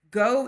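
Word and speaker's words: Geaux: go is spelled G E A U X.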